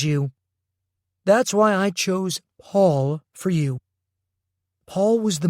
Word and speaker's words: Paul: It's P-A-U-L. The U gives the A a sound like all or crawl.